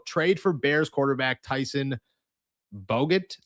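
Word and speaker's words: Bagent: If Aaron is a no-show, trade for Bears quarterback Tyson Bogut. I think it's Badgent. I was thinking, I was like, I know how it's pronounced, but that's not how it's pronounced spelled wise.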